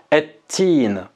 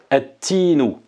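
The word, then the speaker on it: التين: On va l'écrire, mais on ne va pas la prononcer, et on dira ettin, par exemple. Ettinu, hein, ettinu.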